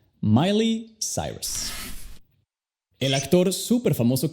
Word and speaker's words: Miley: Si se escribiera como suena, sería como Miley. Ahora, la combinación de las letras L, E, Y suena igual como se pronuncia L, Y simplemente.